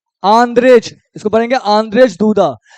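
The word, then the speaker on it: Andrzej Duda: Poland के president कौन है आंद्रेज इसको पढ़ेंगे आंद्रेज दूदा तो यानी सबसे मोस्ट इंपोर्टेंट कि फें चोब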